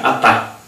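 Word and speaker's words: חטא: seu equivalente verbal chat pronuncia-se aí atá com H aspirado que literalmente significa errar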